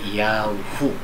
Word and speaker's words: Yahu: So, Yod, Hey, Wab, ang tamang pag-pronounce ay Yahu.